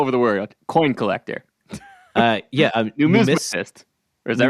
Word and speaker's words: numismatist: Numismatist. Is that right? Numismatist. Yes, I think that's the right pronunciation.